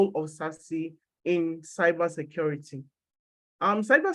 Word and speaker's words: SASE: um cyber security then sassy is secure access service edge pronounced sassy and it's just an